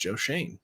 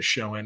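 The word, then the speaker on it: Schoen: says Joe Shane is now his name is pronounced Joe Shane is what the Giants said other people say show in it's one of those last names people will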